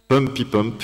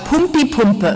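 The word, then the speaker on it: Pumpipumpe: It's called Pumpy Pump. It's very difficult to write and to pronounce. No, it's not difficult. It's called Pumpy Pumpe.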